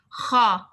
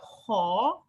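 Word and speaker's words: خ: Kha. You don't make your mouth circle. It's not kha. This is wrong. So kha, kha. You can still smell kha, kha. The sound comes from the throat.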